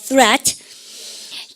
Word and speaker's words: threat: 발음을 갖다 자 혀를 쑥 내고 발음을 갖다 threat 입 사이로 혀가 나오세요.